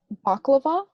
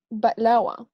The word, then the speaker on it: baklava: yeah what is it people that say baklava because in arabic it's balawa yeah and like i don't know where people get the v from priyani oh you pronounce